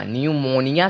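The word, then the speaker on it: pneumonia: फिर ऐसे पूर्व पिया आए तो पी हमेशा साइलेंट होगा जैसे की पीएनबीडब्लयम निया न्यू मोनिया तो यहां पे देखिए एन एन यहां पर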